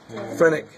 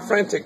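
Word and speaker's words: phrenic: is the frenic nerve not the Frantic nerve the frenic nerve so this one is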